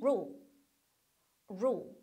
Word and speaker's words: rule: Kingdom was ruled 이렇게 하는데 was ruled 이 rule이라고 하는 거 발음을 많은 분들이 우리 한국말로 야, 너 룰 어겼어, 룰? 룰 이렇게 하는데 이거 룰이라고 하시면 안 되고요. 처음에 R 사운드로 시작해서 L로 깔끔하게 끝나서 원래는 rule, rule.